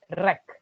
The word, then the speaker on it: wreck: So a silent W often goes before R like this.